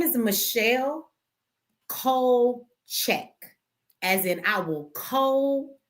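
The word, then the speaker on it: Kulczyk: It's cold check. Okay. It's Polish. K U L is cold. CZ Y K is check.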